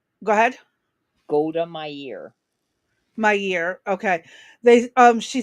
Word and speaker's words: Meir: Yeah, Golda She Meir. says, "Go ahead." Golda Meir. My year.